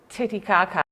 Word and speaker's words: Titicaca: mine also threatened to send us to lake titicaca that's how you say it yeah sounds sounds